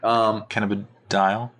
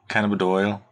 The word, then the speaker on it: Cannabidiol: Cannabidiol. You didn't say it right either. You said dial. Dial, Doyle. It's D-I-O-L. Cannabidiol.